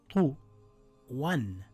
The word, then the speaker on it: طُوًى: Sometimes for the purpose of writing, at the end of a word, it is written either with an alif or with this symbol, but is read the same.